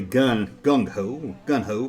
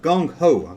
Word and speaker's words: Gung Ho: I often say gun ho, but Gung Ho. There, I said it right.